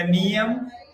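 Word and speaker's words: नियम: So you call them Yama, Niyama. The correct pronunciation is Yam, Niyam.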